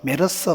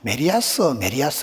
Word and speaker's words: 메르스: 세포와 세균과의 전쟁, 이상한 에볼라 바이러스, 메르스 바이러스. 제가 지난주 어디 집회 갔더만 그 장로님은 메리아스 이러시더라고요. 메르스를 발음을 못 하시네요. 자꾸 메리아스가 어떡해.